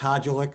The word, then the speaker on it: Hulic: in the past um actually my name is present pronounced hulic but that's okay it's been pronounced many different ways over the course of its history um and we actually